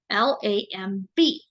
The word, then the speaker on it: lamb: known as a lamp l-a-m-b the B is silent say it with me